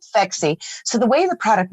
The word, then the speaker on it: Phexxi: So Phexxi, Phexxi, is because the pH is the mechanism of action. And then the XX chromosome is for women. And it doesn't hurt that it rhymes with sexy.